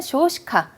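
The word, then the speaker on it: 少子化: 고래가 이거는요, 소자화라는 거는 쇼시카. 고령화랑 저출산화, 아이가 적은 현상이라고 해서 쇼시카라고 읽죠.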